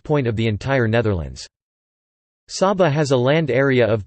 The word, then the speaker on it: Saba: Saba, Dutch pronunciation, Sa-ba, is a Caribbean island which is the smallest special municipality, officially public body, of the Netherlands.